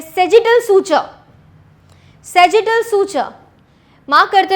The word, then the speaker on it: sagittal: उसे हम कहते हैं सेजिटल suture. Spelling SAGITTAL, सेजिटल suture, सेजिटल suture. SAGI, हाँ, SAGITTAL, सेजिटल सूचर, ठीक है। डन। आगे चलेंगे, वहां पे इसको सजाइटल भी बोलते हैं, सेजिटल भी बोलते हैं, सेजिटल सूचर।